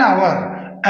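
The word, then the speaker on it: hour: के लिए half an आवर एन क्यों लगा है एच ओ यू आर ओ भवेल है एच साइलेंट है यहां पर तो वॉवेल का उच्चारण आ रहा है एन होगा नहीं तो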